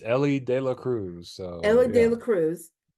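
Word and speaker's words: Elly De La Cruz: the Cincinnati um Reds Ellie de Cruz I hope I pronounce that right because I always it's Ellie De La Cruz so Ellie De La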